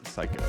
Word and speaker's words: Cayko: So my name is Cayko, as Noah mentioned, and it's actually pronounced like that, even though it's spelled Cayko.